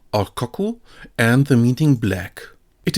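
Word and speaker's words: 黒: This one has the pronunciation kulo or koku and the meaning black.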